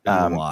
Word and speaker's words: Eloi: the Eloi, or I don't know how you pronounce that. Eloi.